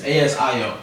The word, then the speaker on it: ASIO: I would say Agio because that's how I pronounce it, right? But it's ASIO.